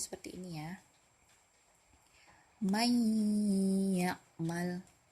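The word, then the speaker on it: من يعمل: May ya'mal. May ya'mal. Nah, jadi nun sukun bertemu dengan huruf ya. Bacanya bukan man ya'mal, jadi may ya'mal.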